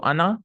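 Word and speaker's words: أنا: So Ana, Nahnu. Ana, by the way, is written with an alif. You should not pronounce the alif. You should not say Ana.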